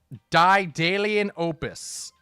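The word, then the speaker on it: Daedalian Opus: die daily in opus.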